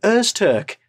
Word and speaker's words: Öztürk: Öztürk.